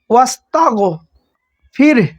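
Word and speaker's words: واستغفره: তারপর দেখেন রব্বিকা ওয়াস্তাগো ফির, এখানে একটু খেয়াল করেন, থামার জায়গা থাকার কারণে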